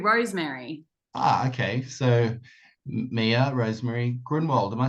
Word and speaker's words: Grunwald: And when my grandfather moved here, it had a umlaut above the U, so it was yeah. pronounced Grunwald. And then he got rid of the umlaut and it's Grunwald, which you pronounce perfectly.